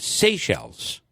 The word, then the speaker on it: Seychelles: most vaccinated country, which is spelled Seychelles, is pronounced Seychelles. Oh, really? Is the name of the country. I am not familiar with that country. Seychelles.